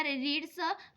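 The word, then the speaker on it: read: आहे यामध्ये त्याच रूपांतर हे करू शकता तर रीडच जे फर्स्ट फॉर्म आहे ते रीडच आहे सेकंड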